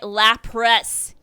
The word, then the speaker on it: Lapras: You get an EV arc, which increases the maximum battery charges by 1, and a Lapras. I said it right, Lapras.